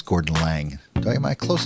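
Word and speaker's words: Gordon Laing: learn how to pronounce that how do you pronounce Gordon Lang do I am I close enough you pronoun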